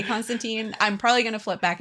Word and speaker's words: Constantine: it out by now it is constant time Constantine yes elephant in the room that is how you say the name I'm not going to say it that way but this is how you say it yeah that's how you